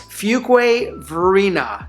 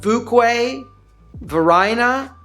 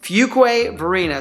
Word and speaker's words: Fuquay-Varina: The number two thing you need to know, it's pronounced Fuquay Varina, not Fuquay Varina, not Fuquay Varina, none of that. It's Fuquay Varina.